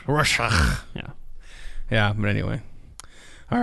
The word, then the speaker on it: Rorschach: It's pronounced Rorschach.